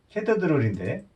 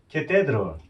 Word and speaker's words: cathedral: 캐더드롤인데 캐더드롤. 캐더드롤 어디냐고 계속 물어도 못 알아듣는 거예요. 그러더니 한참 만에 그것도 이제 캐테드롤. 성당 딱 나오죠.